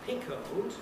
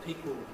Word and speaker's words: pickled: here's the word pickled which may be pronounced pickled with a schwa but this is one of those like suddenly where the schwa can be lost and we end up with a syllabic pickled pickled and pepper is